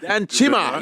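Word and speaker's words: Danchimah: Danchima, it's Nigerian. Danchima, yes. It's Via Tokyo, it sounds. Via Tokyo, Danchima.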